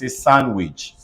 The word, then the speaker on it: sandwich: belt in words like g-r-a-n-d-m-e say Grandma s-a-n-d-w-i-c-a-c sandwich h-a-n-d-k-e-r-c-h-i-e-fc handkerchief h-a-n-d-s-o-m-e-c handsome but look at s-a-n-d-p-a-p-e-r